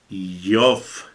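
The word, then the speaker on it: איוב: tenemos en esta tarde empieza con la letra Aleph, la letra Yod, con un puntito que significa que se pronuncia enfáticamente, la letra Vav y la letra Bet.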